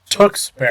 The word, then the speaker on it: Tewksbury: How do you pronounce the city that you are from? Tewksbury.